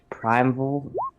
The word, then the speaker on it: primeval: Primeval. Am I saying that right? Primeval? How do you pronounce that?